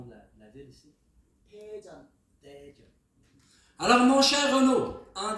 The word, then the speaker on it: 대전: Mon cher Renaud, comment je bien prononcer le nom de la ville ici? 대전. Daejeon.